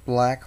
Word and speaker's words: BLAG: be showing you black or is it I think it's black pronounced black Linux it's a good new